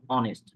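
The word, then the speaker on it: honest: তাহলে অনেস্ট অ উচ্চারণ হয়েছে, তো অ উচ্চারণ হয়েছে এই জন্য অনেস্ট এন হবে।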